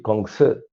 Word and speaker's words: Kongzi: Confucianismo viene de Confucio, chino se dice Kongzi.